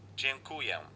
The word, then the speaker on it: Dziękuję: Dziękuję.